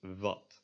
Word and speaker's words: wat: In Dutch, the W is pronounced a lot more similar to a V, and it's pronounced like v, v. This word would be pronounced as wat, wat. It is slightly different from a V in that it is less aspiration, and you kind of move your lip while you're saying it.